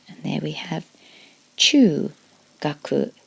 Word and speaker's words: 学: body and arms and that's pronounced gaku giving us D gaku